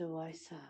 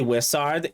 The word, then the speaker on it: Wizard: Wysard. such a strange. It's actually Wizard. Common mispronunciation.